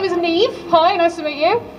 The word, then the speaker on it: Niamh: uh next i would love to welcome on neve simpson who's pronounced that they them oh hi everyone this is terrifying my name is neve hi nice to meet you uh my pronouns